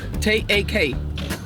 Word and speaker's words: tak: Yes, Danish, and you say tak, T-A-K. Tak. What? Take. Tak. Like take, you say Tak, just tak, tak. T-A-K.